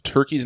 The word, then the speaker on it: Turkie: I like that the turkey's name is Turkey, but it's spelled Turkie.